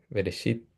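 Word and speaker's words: בראשית: Veresit en la pronunciación esit, pero se escribe eh resit. Ah, ya se escribe resit, pero eh la pronunciación eshit.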